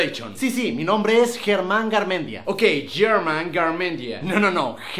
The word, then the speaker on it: Germán: ¿Cómo saben mi nombre es Germán? Pero en inglés se pronunciaría German, que en inglés significa alemán.